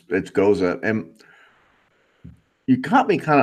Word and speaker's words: Gose: Some people say goes. I think it's Gose.